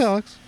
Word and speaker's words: Alyx: Yeah, it's Alex. Because it's Alyx.